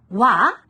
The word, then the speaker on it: は: The particle pronounced は is the topic of the sentence. 私は大学生です。